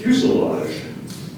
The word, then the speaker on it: fuselage: n i c pneumonic the word is fuselage fuselage fuselage can I have the definition please